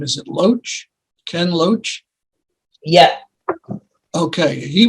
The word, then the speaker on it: Loach: The famous filmmaker, and I don't know how to pronounce his last name. Is it Loach?